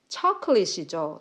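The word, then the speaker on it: chocolate: 초콜릿이죠. 초가 아니고요. 처 이렇게 해야 되고 콜릿 콜렛 이런게 아니고요. 콜렛이라고 해야 돼요. 초콜릿 이렇게 해야 됩니다.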